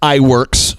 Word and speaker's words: Iwerks: last name is pronounced iWorks. Some people say it's, Iwork.